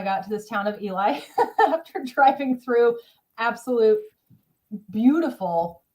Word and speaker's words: Ely: And when you finally get to, I think it's Eli, Ely is how it's spelled, Nevada, at the far